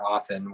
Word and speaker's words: often: i also like how you did not pronounce the t in the word often which is unnecessary so i hear noggin